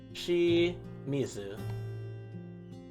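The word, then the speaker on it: 清水: out here got this is she and this is mizu mizu is water she is pure so shi mizu so very simply pure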